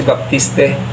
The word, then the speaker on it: Baptiste: player na America si Baptiste. Kung naririnig ko ang pronunciation nila Baptist. Pero kung sa akin babasahin ko baptiste dito naging mahigpit yung